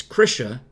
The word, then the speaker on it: Krisha: where it comes from that's why it's krisha rhymes with trisha like attrition what are you okay